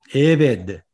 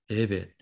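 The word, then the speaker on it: עבד: 또 에베드, 에베드, 종입니다. 그렇죠. 액센트가 앞에 있습니다.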